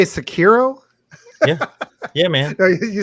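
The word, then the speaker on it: Sekiro: think it was like it's definitely the correct way is yeah everything stays flat there's no emphasis on different syllables yeah it's three three uh hiragana well all right well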